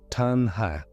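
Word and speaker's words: taṇhā: And in Pali, it is tanha, pronounced roughly tanha.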